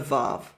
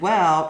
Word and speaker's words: waw: wow instead of a vav? I mean, that's ridiculous. The evidence in the Hebrew Bible clearly shows us that wow is not the result of Arabic influence. This is the original pronunciation.